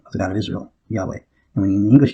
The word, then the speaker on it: Yahweh: the josephus gets to get the word jehovah but that's probably not the correct law markings it's by pronounced yahweh or something of that nature not jehovah but uh when the